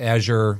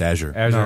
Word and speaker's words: Azure: AWS, Azure, Google, it's like the cloud.